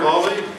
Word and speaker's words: Hawley: Our first speaker, as I mentioned, Hawley, as in Hawley Carburetor. That's how he told me to pronounce his name.